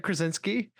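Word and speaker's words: Krasinski: by John I always keep forgetting where his s is krinski I always have to get that ski at the end I was gonna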